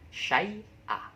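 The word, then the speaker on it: شيئا: Tapi bacanya harus syai'a, oke? Syai'a.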